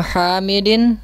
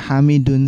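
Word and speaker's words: حَامِدٍ: Hadza bnu Hamidin wa hadhihi bintu Yasirin. Betul. Pertanyaannya, kenapa dibacanya Hamidin, tidak Hamidun saja? Karena terdapat susunan mudhof ilaih. Iya, karena Hamidin kita katakan sebagai mudhofun ilaih.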